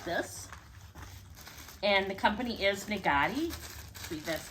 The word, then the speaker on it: Naghedi: it up like this and the company is nagari read that's how it's pronounced so they package this really nice here